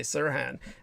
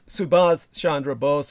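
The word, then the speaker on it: Subhas Chandra Bose: I speak of him half the time I say Siran uh by accident as in Siran Siran but it's subas Shandra BOS and sometimes when I'm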